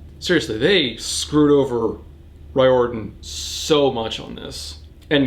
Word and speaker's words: Riordan: It's pronounced Riordan, not Riordan like I've been saying.